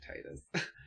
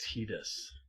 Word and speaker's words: Tidus: like i don't like titus apparently it's pronounced tidus according to steve where do they say